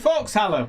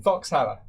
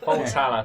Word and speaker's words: Volkshalle: Foxhalle will do just fine. Volkshalle. Volks? Volks. There's an L. Volkshalle.